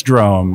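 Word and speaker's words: Drôme: So are we actually mispronouncing Drome since the beginning of the podcast? No, it's Drome.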